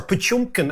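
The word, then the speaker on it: Potemkin: brilliant and it's called pkin Villages or pumkin as the Russians would pronounce it Villages and it's the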